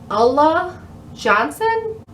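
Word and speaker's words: Ulla Johnson: wait i second guessed myself on how to pronounce it it's allah johnson allah johnson a lot of people been finding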